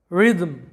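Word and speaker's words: rhythm: সম্মান করা এরপরে দেখো রিদম রিদম যেটার বাংলা অর্থটা হচ্ছে তাল তো এই রিদম শব্দে লক্ষ্য করো এইচ টার কিন্তু কোন উচ্চারণ হয় নাই এইচ টা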